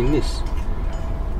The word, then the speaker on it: Nice: It's basically pronounced it N-E-I-S, but it's actually Nice.